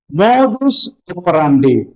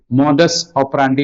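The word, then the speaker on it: modus operandi: in fact right or നോട്ട് ഇതും സ്ഥിരമായിട്ട് കാണാനുള്ളതാണ് മോദൂസ് ഒപ്പറാൻഡി മോഡസ് ഓപ്പറാന്റി എന്നും പറയും മോദൂസ് ഓപ്പറാന്റി മീൻസ് മോഡ് ഓഫ് ഓപ്പറേഷൻ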